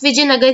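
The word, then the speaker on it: Vijayanagara: तो कभी कबभार ऐसा होता है कुछ हिंदी वर्ड्स को जब हम इंग्लिश में लिखते हैं तो इसके आगे हम एक्स्ट्रा ए लगा देते हैं। हम इसे प्रोनाउंस विजयनगर ही करेंगे।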